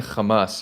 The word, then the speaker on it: Hamas: Yeah, look, I just grew up saying Kamas, you know, with the Hebrew um I do need to learn how to say it the more Arabic way.